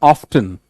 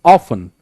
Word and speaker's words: often: It's not often, it's often. Often, not often.